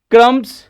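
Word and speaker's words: crumb: रखा है वैसे ही बी क्रम बी का यूज नहीं क्रम नहीं बोलेंगे क्रम बोलेंगे इसको टुकड़े या खाना रोटी जो छोटे-छोटे होते हैं तो यहां बी साइलेंट है इडिट ऋणी जिसके अंदर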